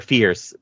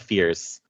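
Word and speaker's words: Fiers: He is very much, or Fierce. Gustav Fierce. Because it's spelled F-I-E-R-S, but it's pronounced like fear.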